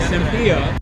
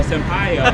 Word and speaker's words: Senpai: Not Senpai, but Senpai.